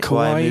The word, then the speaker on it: kawaii: And the Kawaii, is that how you say it? Kawaii.